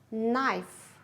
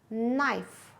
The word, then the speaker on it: knife: Knee, knee, knife, knife, knit, knit, no, no, wrist, wrist, right, right, wrong, wrong, writer, writer. What do you notice? Yes, you don't pronounce letters K and W.